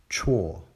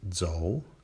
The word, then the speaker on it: 辶: Chuo, to walk, or walking. It's often pronounced zhou, but it doesn't really matter, because chuo is not a character in its own right.